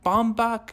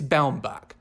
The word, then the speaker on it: Baumbach: Noah Baumbach Baum Bomback It's Baumbach. No, Baumbach. Noah Baumbach. I have to get used to saying that. You know what it reminds me of? I heard him pronounce his name as Baumbach and it blew my mind cuz I've been saying Bomback, which just seems so much easier to say.